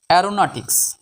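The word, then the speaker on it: aeronautics: আই সি S tricks C এর উচ্চারণ ক এর মত হবে টিক্স অ্যারোনটিক্স বাংলা অর্থ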